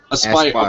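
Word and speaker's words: Aspyr: Aspire Media? Aspire. Okay, Aspire. Like aspiring. Aspire Media is the developer. Aspire Media is the developer. Gearbox and 2K are the publishers. So if you want to support Aspire Media, you know, 100%,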